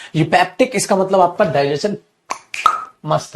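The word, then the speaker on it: eupeptic: भाई अगला वर्ड हमारा यूपेप्टिक इसे बोलते हैं यूपेप्टिक ई साइलेंट है यूपेप्टिक सर यूपेप्टिक का मतलब क्या होता है?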